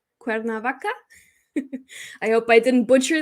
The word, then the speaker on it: Cuernavaca: somebody from mexico oh the city can i pronounce it cuerna cuernavaca cuernavaca i hope i didn't butcher that i actually